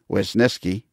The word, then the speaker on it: Wisniewski: And I did the intro and the outro with our buddy Rich the Wiz Wisniewski. And that is how you pronounce it, by the way.